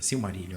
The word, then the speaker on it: Silmarillion: Gente, é assim, porque hoje quando você vai ler Silmarillion, eu tô falando a pronúncia certa, Silmarillion, né?